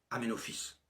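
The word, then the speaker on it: Aménophis: En 1936 et encore actuellement, le nom d'Amenofice fils de Hou s'écrit en hiéroglyphe Ametep mais il se prononce Amenofice.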